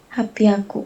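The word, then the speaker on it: 八百: bacanya apa Yuvita? 300 sang biaku. Sanbiaku. Kalau 600 Ropiaku. Ropiaku. 800 Hapiaku.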